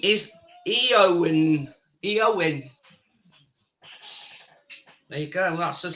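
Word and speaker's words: Éowyn: Eowyn. There you go. That's his latest storm name. So there you go. It's spelled Eowyn.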